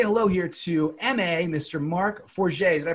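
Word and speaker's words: Marc Forget: to uh say hello here to m.a mr mark 4g did i pronounce that correctly mark absolutely correct and mma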